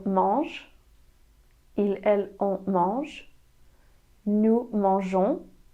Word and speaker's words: mangeons: Nous mangeons. Nous mangeons.